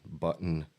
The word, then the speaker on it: button: The T's aren't really even pronounced. It's more of a, button would be Buh apostrophe N, button.